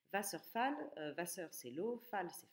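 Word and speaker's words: Wasserfall: réellement et donc ici on fait bien attention à ne pas le prononcer à l'anglaise va surfale Vasseur c'est l'eau Fals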